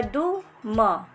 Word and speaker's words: दुम: जैसे द पे छोटे ऊ की मात्रा दु म, इसको बोलेंगे दुम, और इसको द को खींच के पढ़ेंगे क्योंकि बड़े ऊ की मात्रा लगी हुई है।